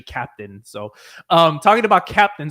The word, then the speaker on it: Keptn: so i used i i used to pronounce it uh ketten right so like trying to pronounce it like the german way but you know you know andreas told me it was uh it's actually captain so um talking about